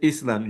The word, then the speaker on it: island: So with the way you said Island, you don't pronounce S between I and L. You say island, island, island for everybody, okay?